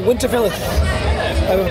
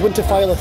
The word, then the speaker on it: Winterfylleth: at bloodstock again and we're here with uh winterfell am i pronouncing that correctly you're absolutely correct excellent i confess for years i've been pronounced it's winterfell yeah that's the incorrect way so you just